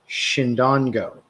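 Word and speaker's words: Chindongo: It's called Chindon, so it's pronounced Shindongo.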